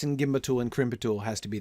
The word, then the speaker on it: gimbatul: In fact, that pattern, Catriona, would also suggest that the stress should fall on the second syllable. Ashk, naz, gimbatul.